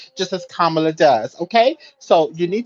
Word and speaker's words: Kamala: you on this before her name is not Kamala and you know that her name is kamla so you will address Madame vice president as